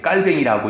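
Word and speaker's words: Calvin: 우리 장로교회 창시자로 알려진 존 칼빈이 깔뱅이라고 이야기하는데 원 발음으로이 깔뱅이 사람이요 어 직업 소명설이라는 걸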